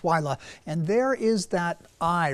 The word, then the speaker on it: Willa: I want to start with a close-up look, high-resolution look at Hurricane Willa, spelled like Willa, but it's Willa.